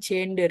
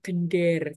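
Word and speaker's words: gendèr: sini ya ke sini ini bacanya bukan gender ini bacanya gender gitu ya Dek gender adalah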